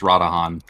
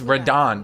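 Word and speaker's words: Radahn: would say then that your name is pronounced radahan it wouldn't be why would it be radahan it's radon that's a the whole thing is redone you have to emphasize the two a's where do you see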